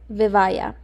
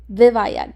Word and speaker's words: Vivaia: The brand name is called Vivaia. Vivaia, not Vivaia. I got the pronunciation wrong and I say it wrong the entire video. So remember, every time I say it wrong, it's Vivaia. Okay? Vivaia. Don't forget.